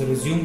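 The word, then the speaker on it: résumé: ऊपर टाइटल रखना है रेज्यूमे, ठीक है। कुछ लोग इसको प्रोनाउंस रिज्यूम करते हैं तो रिज्यूम इज the wrong word, आपको रेज्यूमे बोलना है, ठीक है।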